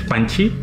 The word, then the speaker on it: Panchi: Estamos hoy, estamos con Panchi. ¿Así este es tu apellido? ¿Qué crees? Mi apellido es Panchi. Se escucha así como Pancho en vez de con O, con I.